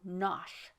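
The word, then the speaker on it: Knotacent: seat of lord nakasent pronounced as if written nosh but it is not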